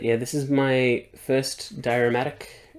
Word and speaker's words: Dioramatic: this is my first diurmatic and I think that's how you say it dioromatic because it's a diorama um figure and they've